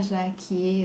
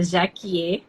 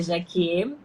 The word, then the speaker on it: Jaquier: Muita gente chama de Jaque. Eu já nem noto mais, eu acho, quando as pessoas chamam Jaque, mas a pronúncia correta, que foi o nome que o meu pai me deu, é Jaquier.